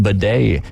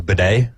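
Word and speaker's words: Beaudet: So I don't think it's Baudet. I mean, it could be, but I'm going to go with the French and the T being silent.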